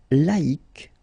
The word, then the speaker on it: laïque: Yes, you need to take away the C and then put QUE, but then phonetically, if you pronounce it, you pronounce it exactly the same way.